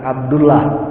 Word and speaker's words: Abdullah: diawali dengan Abdu Abdullah jangan salah ada yang pengucapannya secara ilmu tajwidnya tidak benar Abdullah Kenapa secara ilmu tajwid itu mana lagi aturannya kalau 8 Allah sebelumnya fathah atau dhomah itu harus pakim-hakim itu ditebalkan Abdullah bukan Abdullah kemudian